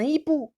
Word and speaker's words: hibou: Un hibou, j'ai pas prononcé le H.